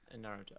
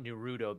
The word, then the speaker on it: Naruto: it naruto or naruto if you're doing the japanese pronunciation i'm probably gonna butcher it but it's it's it's like it's not nerudo because you're doing the emphasis okay emphasis is the middle of the word not the end um by the way